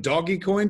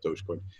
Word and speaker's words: Dogecoin: Actually, the first time I said it, I was like, are we doing doggy coin today? He goes, you mean Dogecoin? And I was like, is that how you say it? He goes, yeah. I was like, but it looks phonetically like doggy coin. He's going, no, it's Dogecoin.